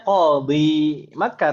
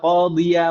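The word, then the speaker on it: قاضيَ: Bacanya qadi Makkah atau qadiya Makkah? Qadiya Makkah. Qadiya, bukan qadi.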